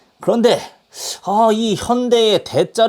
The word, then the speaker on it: 현대: 자기의 광고를 건대 어 항상 그 나레이션을 보면은 현대 라고 얘기하지 않고 헌다 에이 뭐 이렇게 발음을 해요 실제로 발음 하려고 하면 은 hyo 의 bae 라고 해야지만 정확한 현대 라는 발음이 되는데 처음에 이렇게 만들어놓고 이게